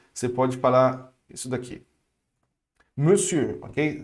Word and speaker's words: monsieur: Monsieur, ok? Se escreve com mon, mas se pronuncia me, fechado.